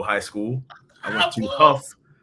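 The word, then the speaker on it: Hough: So, I'll give a shout out to uh to Huff High School. Um it's funny because it's spelled H O U G H so everybody sees it and they think I went to Ho High School.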